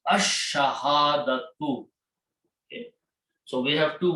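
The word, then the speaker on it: الشهادة: So sound of lam goes away and it becomes ash-shahadatu.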